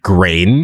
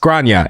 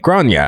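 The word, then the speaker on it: Gráinne: yeah, it does say grain. But I guess the point here is this is not American English. It's not English at all. It's pronounced Grania and is Irish.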